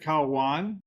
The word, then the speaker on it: Caua: You pronounce it Kwan.